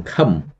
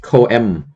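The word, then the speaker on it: សង្ឃឹម: Ba, this word, okay, just one syllable. Khâm. Don't pronounce ko-em. Okay, some students, they pronounce ko-em. Ko-em. So it's not correct. Just one. O-E in this transliteration, it stands for vowel a. So you spell together, okay, you pronounce khâm.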